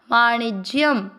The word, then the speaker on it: वाणिज्यम: गौरक्ष्य वाणी और इसके बाद में ज आधा य पूरी के साथ ज्य वाणिज्य। शब्द पुराने के बाद य पे अनुस्वार आधा म वाणिज्यम। पहला चरण रिपीट। कृषि गौरक्ष्य वाणिज्यम।